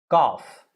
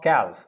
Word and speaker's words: cough: not calf it's cough cough remember it's not calf it's cough then you have calf